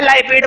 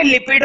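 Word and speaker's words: lipid: है, उसके अंदर भी देखो लाइपिड बोलो या लिपिड बोलो एक ही बात है, प्रोनाउंसिएशन मैटर नहीं करती है। बढ़िया रहेगा स्पेलिंग सही हो बस, ठीक है। तो लिपिड बोलो या लाइपिड बोलो एक ही बात है, मेरे को आदत है लाइपिड बोलने की, ठीक है। लिपिड भी बोल सकते हैं वैसे।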